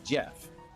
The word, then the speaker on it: GIF: pronunciation on gif I understand it's a graphics thing so it's supposed to be spelled like or it's pronounced like Graphics or whatever but the the creator of gifs said it's Jeff oh that's the one